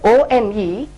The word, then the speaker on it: one: match because the word O-N-E, of course it starts with a vowel letter O, but the pronunciation is like W-O-N, one, which is a B sound as we see in verse.